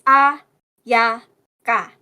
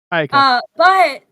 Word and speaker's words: Ayaka: It's Ayaka. Ayaka. But why is there a ya?